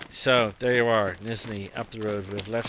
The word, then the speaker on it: Nizhneye: It doesn't look like it should be pronounced Nizhneye, but this is Nizhneye.